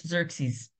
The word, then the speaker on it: Xerxes: called and in Greek his name is xeris pronounced in English Xerxes um the the septent which is another trans